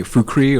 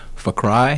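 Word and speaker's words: Fukry: is fu k ry you can say fukrey or for cry so you know any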